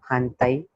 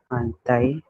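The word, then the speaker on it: 反対: मतलब T series, D series, R series, N series, इसके या इसके बाद आया, मतलब न के बाद अगर इस चारों सीरीज में से कौन सा भी वर्ड रहेगा तो फिर मोरा को हम न प्रोनाउंस करेंगे.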